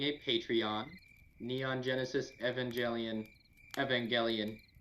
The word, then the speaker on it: Evangelion: patreon neon genesis evangelion evangelion is pronounced with a hard g and don't watch the